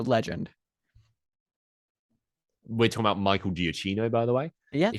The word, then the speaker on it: Giacchino: Michael Yeah, Giacchino. Michael Giacchino.